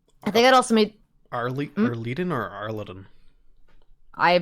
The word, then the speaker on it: Arliden: I've also made a note here that says Laura knew Kavoth's father as Arleden the Bard, which makes Kavoth very angry. I think I'd also made... Arleden or Arleden?